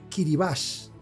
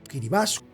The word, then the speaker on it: Kiribati: Se pronuncia Kiribas. Kiribas vienen de Gilberts, el nombre colonial.